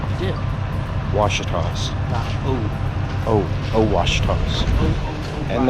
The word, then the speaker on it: Ouachita: kind of different finally in the wash toss pronounce it right yeah Ouachita oh oh wash tubs and there's somebody special